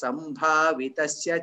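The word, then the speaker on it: सम्भावितस्य: Similarly, sambhavitasya cha kirtihi. Bha is there, no bha. There is, you need to pronounce it as bha instead of ba.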